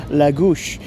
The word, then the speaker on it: Lagos: And then, from Faro, took a private transfer to here in Lagos, l a g o s, not pronounced Lagos. And if you want to be clever about it, potentially pronounced Lagush, but we'll stick with